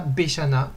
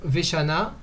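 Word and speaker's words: ושנה: Donc Shana Veshana, là on ne dira pas Shana Beshana, parce que on n'a pas repris notre souffle. Donc, par commodité, pour prononcer le mot Veshana, vu qu'on a déjà la bouche ouverte en disant Shana Veshana, on n'a pas repris notre souffle, c'est plus facile, plus commode de dire Shana Veshana et pas de dire Shana Beshana.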